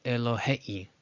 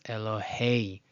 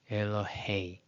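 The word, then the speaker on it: אלהי: Again, nobody says Elohei, Elohei, Elohei, but rather the diphthong means it's combined to sound as Elohei, Elohei.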